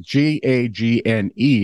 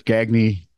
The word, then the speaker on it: Gagne: And then that's when we figured out that G-A-G-N-E is pronounced a lot of different ways. Yes. There's Gagne, Gagne, and Gagne.